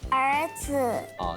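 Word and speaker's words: 儿子: 请看来问一下琬蓉会不会念这两个字 ér zi 那个zi是轻声对吗轻声对轻声就是没有那个声调好所以恭喜琬蓉这一题答对可以获得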